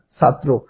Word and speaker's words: ছাত্র: যেমন দেখেন ছাত্র বানান, দেখেন ছাত্র শব্দের কি রয়েছে, রফলা শব্দের শেষে রয়েছে, তাই এই রফলার উচ্চারণটা কিসের মতো হবে, অদ্বিত্ব হবে এবং এর উচ্চারণ হবে ত, তয় রফলা ঔকার, ছাত্র।